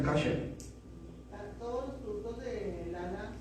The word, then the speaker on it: kosher: Se escribe kosher, pero se pronuncia kasher.